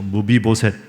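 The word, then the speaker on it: 므비보셋: 발음이 좀 어렵죠? 한번 따라해 보시죠. 무비보셋.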